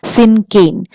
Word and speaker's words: cinquain: The pronunciation is syncane.